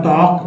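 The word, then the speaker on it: talk: L silent है वक यहां पर टॉक में एल साइलेंट है में एल साइलेंट है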